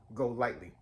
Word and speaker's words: GoLytely: And then also have to drink this stuff called Go Lightly. It's spelled Golytely.